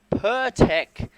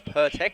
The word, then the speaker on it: Pirtek: out next with the per tech sponsorship pronounced that wrong before it's pertek my apologies there as